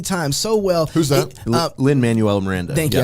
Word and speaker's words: Lin-Manuel Miranda: so you can see the beauty of it lindell miranda he has done that so many times so well who's up lin-manuel miranda thank you i said it wrong mike glendale